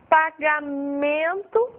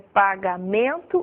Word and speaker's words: pagamento: Por exemplo, pagamento, a sílaba forte dessa palavra é no man.